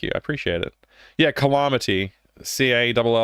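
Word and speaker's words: Callamaty: Yeah, Calamity. C-A-L-L-A-M-A-T-Y. It's like Calamity, but spelled like with the word llama in the middle of it.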